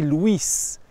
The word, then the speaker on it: Louis: le jeune à park son prénom se prononcer luis et depuis ce temps